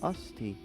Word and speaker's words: osti: Now when people ask me if I know French, I could say usty. Yeah, that's right. Wow. Right, it's just like crusty, but usty.